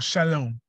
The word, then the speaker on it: Shalom: of Salem Salem OR Shalom the S should be ashin in the Hebrew word the letter should be ashin and as Sheen is actually pronounced with an sh tone so Shalom which we